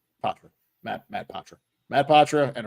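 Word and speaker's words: Poitras: Patra. Patra.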